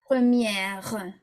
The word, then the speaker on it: première: Okay, you must pronounce the R unless it's a final ER.